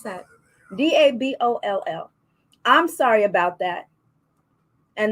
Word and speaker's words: Daboll: How do you pronounce that? Daboll.